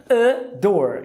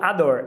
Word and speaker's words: adore: A palavra adorar, adore, e não adore.